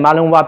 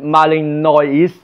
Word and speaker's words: Malinois: there's a Malinois and of course I have seen the name Malinois before it's a French pronunciation that's the origin because Madame I came from Belgium and in the book I when I read it all Marley no Marley noise I thought that is the name so when he said